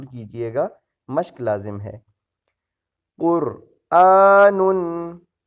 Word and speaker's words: قرآن: گا، مشق لازم ہے۔ قرآن، اسے لوگ قرآن پڑھتے ہیں، قرآن نہیں ہے، یہ حمزہ کی اپنی کھڑی زبر ہے، قرآن نہیں ہے، قرآن۔ آگے حمزہ زبر لام